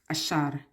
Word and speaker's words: Asher: you know like it asher is the olive tree ashar is the way you pronounce it is how you pronounce it and he is the